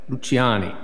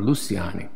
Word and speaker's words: Luciani: theologian he is venezuelan luciani or luciani depending upon your spanish or your italian you're going to how you're going to pronounce that rafa luciani and he